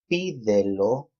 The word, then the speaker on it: pídelo: Okay, pídelo, pídelo, 3 syllables. Lo is the last, de second to last, pi is the last.